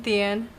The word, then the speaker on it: Tien: So It looks like Tien. Like there's like an H in there. Like, yeah. So I always say like, hi, I'm Tien, like the end of a book.